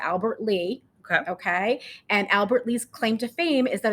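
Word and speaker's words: Albert Lea: lee or the city how do you say it albert lee albert lee and spelled l-e-a so i i was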